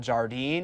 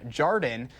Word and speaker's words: Jardin: One of the spots participating this time around is Jardin on East Washington Avenue. Also called Jardine, or the Wisconsin pronunciation Jardin, it's seasonally driven farm to table restaurant tucked away at the Rubinia Courtyard.